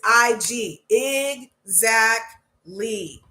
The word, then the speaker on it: exactly: of the masses zackly did you know that's a three syllable word IG zackly and it's not e it's IG exactly okay exactly trying to